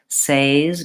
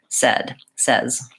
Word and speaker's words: says: Many people mispronounce this as says because of the spelling, but it should be the same vowel as in get and men and said, says.